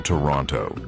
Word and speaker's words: Toronto: He winces when people pronounce the second T in Toronto.